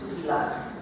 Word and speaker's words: tupilak: It's tupilak. So it's like it's spelled, the tupilak. And lak, the tupilak. Yes, the tupilak. Like a K.